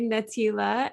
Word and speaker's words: Natelia: Yes, you're saying my name right, Natelia, and then Natelia and Jens.